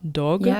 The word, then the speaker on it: Dogue: album, you just put a new album out, Dogue. Is that how I pronounce it?